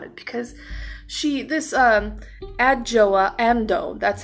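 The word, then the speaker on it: Adjoa Andoh: I feel about it because she this um adjoa amdo that's how you pronounce her name I actually had to go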